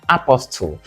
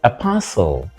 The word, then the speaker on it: apostle: we have AO AO notice that the letter T here is silent and the word is pressed on the second syllable so it's not Apostle but Apostle for example the Apostle